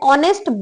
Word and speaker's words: honest: It is also used with vowels with words beginning with a silent H. जिसमें H silent होता है उसके साथ भी N यूज होता है. H, an honest boy, an honorable post, an R.